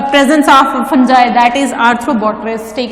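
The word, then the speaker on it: Arthrobotrys: Pronunciation पे गौर कीजिएगा, आर्थ्रोबोट्रिस, नॉट आर्थ्रोबोट्राइज, this is आर्थ्रोबोट्रिस।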